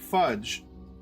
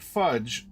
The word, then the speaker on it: Phudge: The Draconians had initially intended to wipe out the filthy little nuisances, but the Gully Dwarves, led by the Great Fudge, and that's spelled Phudge, Fudge, led by the Great Fudge,